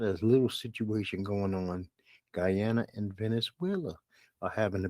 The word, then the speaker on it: Guyana: Guyana in this situation or Ghana no Guyana it's Guyana gu y n a so I believe I'm pronouncing that correctly and you know what